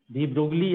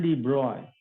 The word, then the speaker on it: de Broglie: डी ब्रोगली हम बोलते हैं, एक्चुअल प्रोनाउंसिएशन डी ब्रॉय।